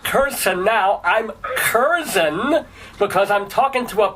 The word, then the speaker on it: Curzon: been mispronouncing your name I've been pronouncing it keran and now you tell me because it's English somehow that it's Ken but what I want